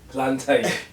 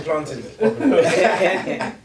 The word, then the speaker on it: plantain: So from now on, you pronounce it plantain. Oh my God. And then it's done. Oh my God. Aren't you with me? I'm definitely starting with education though. Yeah, because education had to say planting.